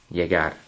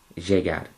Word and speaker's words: llegar: Now, I've just made a mistake in saying that word. In fact, it's llegar. J. So, try putting your teeth together and making a j. Now, you're going to really want to pronounce it as sh, like that. Llegar. Llegar. And as you say the word, you want to take the sh down a level.